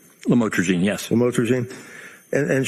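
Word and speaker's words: lamotrigine: Did I pronounce that right? Lamotraine.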